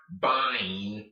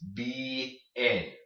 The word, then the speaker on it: bien: It's not bine or bane, it's bien, okay? You pronounce both vowels. You pronounce both of the vowels in your word in general in most words in Spanish.